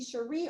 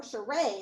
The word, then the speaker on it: Cherie: And she said, oh, you can be Cherie or Sheree. It's up to you. So you decide. You decide how you want to pronounce it.